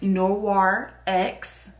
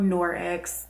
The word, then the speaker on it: Noir X: talking about today is noir x or nor x depending on how you want to pronounce it but they are